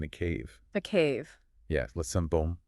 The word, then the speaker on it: Sainte-Baume: Yeah, Sainte-Baume, it's pronounced.